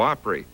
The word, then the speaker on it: Opry: From here on out, it's going to be the Grand Old Opry invoking the southern rural pronunciation of the word opera.